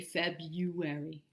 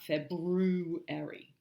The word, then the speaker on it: February: is look how dispelled you people usually say febuary not February okay so are you cold